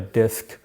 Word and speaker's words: DISC: But anyways, that third step is called a disk. Um, it's a DISC behavioral assessment. That's the name of the tool. And you can look it up on Google. It's spelled D I S C. Um, so the DISC assessment.